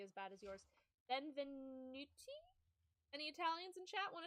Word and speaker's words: benvenuti: This is how it's supposed to be pronounced. Benvenuti. Benvenuti. I I looked it up. Benvenuti.